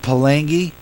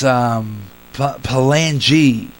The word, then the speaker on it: Palangi: I've been pronouncing it Palangi. It's Palangi.